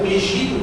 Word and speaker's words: Megiddo: E Megiddo, ou Megido, como se fala, é o nome de uma montanha que tem lá em Israel.